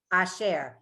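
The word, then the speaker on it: אשר: If it shortens the vowel, then it makes the whole syllable shorter. So it's asher.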